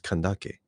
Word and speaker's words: Kandake: It's Kandake. And this Candace is the Latinized version of it.